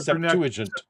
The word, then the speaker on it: Septuagint: And learned to say Learned how to Septuagint.